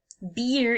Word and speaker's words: beer: Beer is when we talk about the drink. So the word is spelled B-E-E-R, but the way that we pronounce it is B-I-E-R. Beer. Beer. Very long sound.